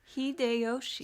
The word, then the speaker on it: Hideyoshi: gonna be talking about Heidi hi Yoshi hideyoshi hide Yoshi thank you Tiffany you're the best uh you just pronounce it two letters at a time Jade General Queen and